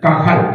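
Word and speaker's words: qahal: q a h a L Cómo se dice cajal ahí está en el número ocho en el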